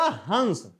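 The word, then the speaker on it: हँस: क्या पढ़ा गया हस मतलब जब हम अनुस्वार का उच्चारण करते हैं तो हमारे मुंह से अधिक हवा निकलती है नाक से कम निकलती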